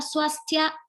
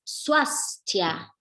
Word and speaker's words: Swásthya: de la palabra es su as ya no hay que olvidarse de esa s suecia bien seguimos entonces